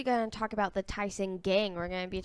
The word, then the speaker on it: Tison: We're actually going to talk about the Tison gang. We're going to be talking about multiple people. Whoa. It's Tison, Tison, not Ty.